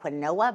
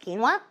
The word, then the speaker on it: quinoa: say, I know you're looking at it like quinoa but it's actually pronounced quinoa.